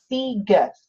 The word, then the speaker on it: Sieges: SIeges you can see how to spell my name right here Sieges and then this is how you say it sea Gus isn't that great Beal